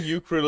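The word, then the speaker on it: écureuil: ask another friendch person I think ukil is the correct pronunciation for this I think you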